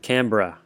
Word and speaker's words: Canberra: Pronounce it Canberra.